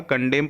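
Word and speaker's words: condemn: यहाँ पर N silent होगा, कंडेम पढ़ेंगे इसको।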